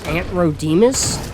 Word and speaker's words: Antrodemus: upgraded allos, I believe their name is pronounced Antrodemus, Ant and then Ro, like O-R. No, not O-R. R. It would be R-O. It'd be the opposite of what I said.